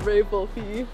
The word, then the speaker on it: Volpe: I'm here with VOLPE.